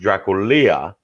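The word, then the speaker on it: Drăculea: dragon yep vlad dracula it's actually pronounced in romanian it's actually pronounced draculia was the son of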